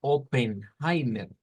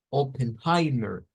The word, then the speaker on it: Oppenheimer: línea verdad por ahí entonces escuchamos que no es oppenheimer lo escuchamos como heimer openheimer pero en el escrito no es así es un sonido diferente o si no Vámonos